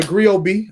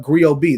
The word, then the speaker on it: Griot B: And then, of course, look up Griot B. That's Griotb. The T is silent like D in Django.